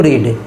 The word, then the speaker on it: read: अब बच गया इन्फिनेटिव टू रीड, तो टू रीड का क्या होगा, टू बी रेड, रेड, टू be spelling same रहेगा, READ, ये याद रखना होगा। READ, रीड, रेड, रेड।